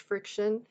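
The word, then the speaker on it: FriXion: is what I use and it's called a friction pen this one happens to be a pilot friction and it's like Fri x i o n but it's pronounced friction it actually has an eraser on the end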